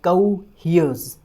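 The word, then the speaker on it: coheres: जाता है, कोहियर्स, और इसका प्रोनाउंसिएशन होता है कोहियर्स। ध्यान रखिएगा, जो एस लगेगा वो ज की साउंड देगा, तो कोहियर्स। और पहले की तरह ही जो स्ट्रेस रहेगा वो ह वाली साउंड के ऊपर रहेगा, कोहियर्स, कोहियर्स।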